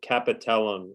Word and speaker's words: capitellum: Just one quick point, just pronunciation of so capitellum is how you pronounce that part where the radius articulates with the elbow.